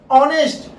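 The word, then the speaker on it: honest: Inhabit, inhabit में एच है, होप, होप में एच यूज हो रहा है, ऑनेस्ट, हाउस, हाउस में एच हो रहा है, लेकिन ऑनेस्ट में एच का प्रोनाउंसिएशन नहीं हो रहा।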